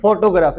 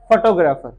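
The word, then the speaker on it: photographer: होगा ना फोटोग्राफर फोटोग्राफर this न फोटोग्राफर इट्स फोटोग्राफर फोटोग्राफर इट्स फोटोग्राफर आपने सुना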